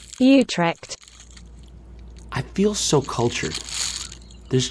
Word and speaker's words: Utrecht: how to pronounce utrecht okay you track you drift you trek wait like they can't be right oh we're on the american pronunciation let's look for the dutch the british pronunciation utrecht i feel so cultured